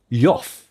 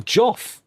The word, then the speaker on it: Jeff: Yeah, he's pronouncing Jeff. Yoff. No, Yoff, not even Joff. He's pronouncing it Yoff.